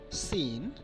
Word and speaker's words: scene: For example, muscle, scissors, scene, fascinate, as if there were no C here.